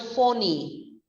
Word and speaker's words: phony: Now, did you know the word phony? The spelling is similar to money, but the pronunciation is as different as the meaning. It rhymes with the words Tony and pony.